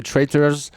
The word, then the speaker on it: Traitrs: On va écouter Traitors. C'est comme ça qu'on prononce, en tout cas que je le prononce. Le morceau s'appelle. Comment ça se prononce en fait, ça s'écrit Traitrs. Ouais, voilà, il manque une voyelle à la fin.